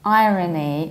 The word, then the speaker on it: irony: However, we say a word irony like irony with pronounced R. And we also say ironic with pronounced R. So don't confuse these three.